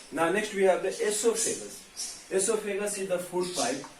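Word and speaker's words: oesophagus: called food pipe or esophagus o is silent here o e s o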